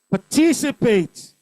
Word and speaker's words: participate: Participate. Say participate. Second syllable.